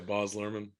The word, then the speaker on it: Baz Luhrmann: Yeah, Baz Luhrmann.